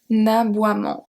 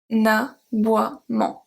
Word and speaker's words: aboiement: We have un aboiement. Un aboiement.